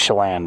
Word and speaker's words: Chelan: This week's episode, we are going to be heading to Chelan, Washington, or Chelan. It's pronounced Chelan, but, you know, I like to mess with the locals.